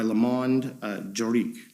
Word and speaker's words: Le Monde Juridique: the Business Legal Advisor of the Year by Le Monde Juridique. Is that correct? That's correct. And did I pronounce it correctly?